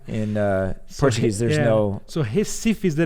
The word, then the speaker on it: Recife: Recife is more like we.